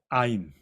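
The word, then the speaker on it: עין: 이응은 이응인데 목 깊은 데서 나오는 소리예요. 아인. 네. 그냥 아인이 아니고 원래는 아인 이래 속 깊은 데서 나와요.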